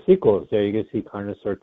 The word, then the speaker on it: Carnosaur: Does it rhyme with dinosaur? It does rhyme with dinosaur, yes. Actually, dinosaur or carnosaur.